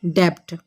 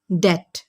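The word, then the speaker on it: debt: بولا جاتا ہے اسے اکثر لوگ بولتے ہیں ڈیبٹ، کیونکہ سپیلنگ میں آ رہا ہے بی، لیکن یہ بی سائلنٹ ہے، ڈیبٹ نہیں ہے، اصل میں ورڈ ہے ڈیٹ.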